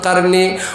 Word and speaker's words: কারনি: হলো কারনি নাম শুনেছেন যাকে বলে শুদ্ধ ভাষার সহি উচ্চারণ হচ্ছে কারনি উনার নাম হচ্ছে উনার